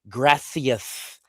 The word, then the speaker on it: gracias: In the way they pronounce things for gracias, you need the th gracias.